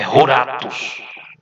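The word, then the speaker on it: ἀόρατος: ao fatos o ratos aliás Ratos não gente de corrigir a pronúncia é roratus o buracos é a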